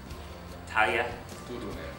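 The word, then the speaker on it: Tarja Turunen: Talia Turunen.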